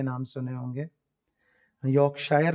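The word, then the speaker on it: Yorkshire: रहता है, जैसे कि योर्कशायर। क्रिकेट में जो लोग इंटरेस्टेड है उन्होंने जरूर इस तरह की काउंटीज के नाम सुने होंगे। यॉर्कशायर लिखा हुआ है लेकिन इसकी प्रोनाउंसिएशन इज यॉर्कशायर, यॉर्कशायर, ठीक है जी।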